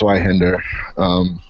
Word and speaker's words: Zweihander: The difference between a claymore and the Z weapon, I call it, because I can't pronounce that. Yeah, it's Zweihander.